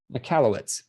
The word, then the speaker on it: Michalowicz: First, which has, it was written by Michael Michalowicz or something. I can't remember how to say his name. I believe I have the book actually. Yeah, it's Mike Michalowicz.